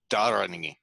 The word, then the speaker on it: dharani: It's closer to dharani. Dharani. Dharani. And I'm still putting a little bit too much accent on that first syllable.